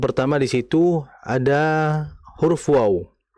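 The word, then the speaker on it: و: Mengenai huruf wau ini perlu diketahui bersama huruf wau ini kan makhrajnya atau pengucapannya ini kan berada di bibir ya. Sehingga huruf wau ini harakat apapun dia maka tetap dibaca dengan memonyongkan kedua bibir.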